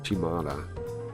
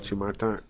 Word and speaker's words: Chimata: This is Chimada. can you say it? You don't mind. Chimata. There you go. Chimata. You gotta say it like that.